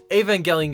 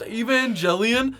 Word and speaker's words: Evangelion: for some reason uh Evangelion gets brought up he doesn't watch anime somehow avang gelan gets brought up and he's like isn't it pronounced evang gelian and I'm like no dude and then the girl